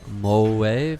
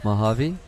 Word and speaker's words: Mojave: corner and get a little iOS not always mole wave how do you pronounce it is it mo a Mojave Mojave what's coming soon yeah yeah now I've seen